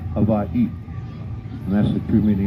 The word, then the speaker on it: Hawaii: Miss say the word anytime you find the letters w in between two of the same vowels you will pronounce with a V sound so you notice Havi has two eyes at the end so you celebrate how he separated so you say Havi and that's the true